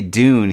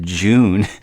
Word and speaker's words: Dune: Every time we would say Dune, he would pronounce it June, and it just kind of cracked me up.